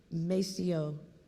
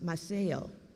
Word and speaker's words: Maceo: He would be in Cuba, and as a matter of fact, in the square of Cuba, there is a statue, Maceo, but it's pronounced Maceo.